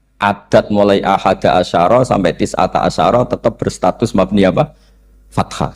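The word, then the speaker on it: تسعة عشر: Berarti alaiha itu tetap yang ngatasin rokok tis'ata asyara utawi 19. Tetap bacanya bukan tis'atu asyarin tapi tis'ata asyara.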